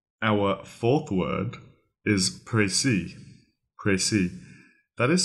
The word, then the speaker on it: précis: pronounced PR is because the E actually has an e acute symbol from French because it is originally a French word a pry means a